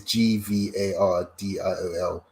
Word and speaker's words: Gvardiol: It's Gvardiol.